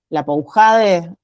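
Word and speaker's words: Lapoujade: E en este libro del que yo les hablaba eh de las existencias menores, la Poujade, según Sandra se pronuncia así, la Poujades eh habla justamente del acto de instauración, ¿no?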